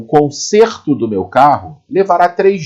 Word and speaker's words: conserto: Conserto. O timbre da vogal e saiu fechado. Conserto. Imagine que ali existe um acento circunflexo, né? O chapeuzinho do vovô. Conserto. Olha o som fechado.